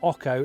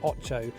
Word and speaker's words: Ocho: Now it's called Ocho, it's a bit of an odd name, it's not Ocho, it is pronounced Ocho because Ocho in Spanish means 8, and this lure has 8 sides.